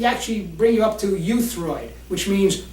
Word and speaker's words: euthyroid: So we want to actually bring you up to euthyroid, which means right in the middle. How do you say that? Euthyroid, as in it's E-U-T-H, but you can use it phonetically as Y-O-U.